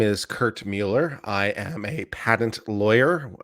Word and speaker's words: Mueller: Yeah, and I said I don't care that everyone pronounces it Robert Mueller. It's Mueller in the same way it's Bueller, and there's an E in there for a reason.